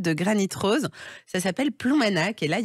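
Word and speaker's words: Ploumanac'h: Ça s'appelle Ploumanac, et là, il y a le GR34.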